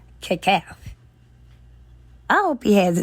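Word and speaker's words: Kecalf: it right, it's called Kekaf. K-E-C standing for Kenneth Edward Cunningham, and then A-L-F for Aretha Louise Franklin, pronounced Kekaf.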